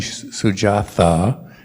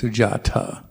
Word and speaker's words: Sujata: believe so so um if you've been saying sujatha you've been saying it wrong it's sujata so um that's another